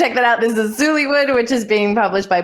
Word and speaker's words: Zoollywood: guys want to check that out this is zullywood which is being published by blue piper how